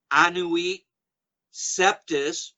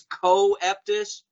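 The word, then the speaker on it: Annuit Coeptis: Twin Towers, as does Anuit Septis, which the Masons always mispronounce on TV as Coeptus. No, Masons, bad Masons, bad. It's Septis, as in Sept, the sacred star.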